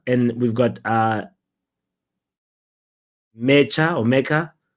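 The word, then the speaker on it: Nmecha: we've got uh mea mea he's got an N at the beginning of his name and I believe the N is silent we talked about this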